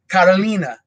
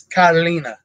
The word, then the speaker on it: Carolina: like in Portuguese, it's Carolina. So everybody thought I was saying Catalina. So, but it's Carolina. So it's how they pronounce it in Portuguese. The R makes kind of a weird, almost H sound, rather than in Spanish,